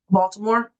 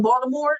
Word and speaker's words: Baltimore: Y'all didn't have a D in Baltimore. There's no D in Baltimore. That is a T. And that T sound don't make the D sound. It's Baltimore.